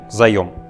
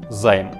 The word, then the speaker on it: заём: один из вечных вопросов как говорить правильно займ или заем любой словарь русского языка однозначно ответит вам что правильно говорить заем однако на языке финансистов и простых пользователей принято говорить займ именно это слово мы